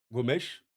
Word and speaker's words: Gomes: que Angel Gomez d'ailleurs on devrait le prononcer Angel Gomèche à la portugaise parce qu'il est d'origine portugaise angolaise mais on va le on va le prononcer Angel Gomez on va dire à l'anglaise.